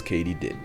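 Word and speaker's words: katydid: that word turns out it's katie did as in did katie yes katie did i'm gonna mispronounce it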